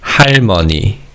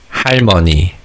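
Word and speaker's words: 할머니: The word for grandmother is similar to haraji and it's harmony. harmony for grandmother we don't just add har in front of the word that means mother which is harmony.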